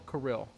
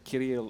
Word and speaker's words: Kirill: And he's like, by the way, it's either Kirill or Kirill. So I can say Kirill if I roll the R.